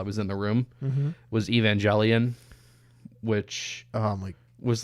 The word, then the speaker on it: Evangelion: Evangelion. Okay. How's it pronounced? I'm not even gonna glorify how? You. No, you don't deserve to know. Evangelion or there you go. Okay, close enough. Evangelion.